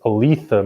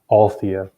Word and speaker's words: Aletha: hamner not hammer and it's alitha martinez not althea i think that was